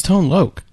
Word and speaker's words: Tone Loc: Well, I was born in 87, so give me a Wait, that's how I pronounce break. It's Loc. It's Tone Loc.